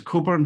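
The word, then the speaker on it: Cockburn: and strategy maps and my name is coburn which is the same pronunciation as aleister one of the agile manifested co-authors um we are i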